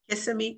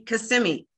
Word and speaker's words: Kissimmee: Kissimmee. Kissimmee. I think that's how you pronounce it. Kissimmee. Because if you pronounce it the other way, they get angry.